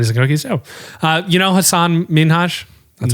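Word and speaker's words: Hassan Minhaj: said this on a podcast how do you pronounce it Hassan it's sorry it's Hassan minhash okay I know what do you want from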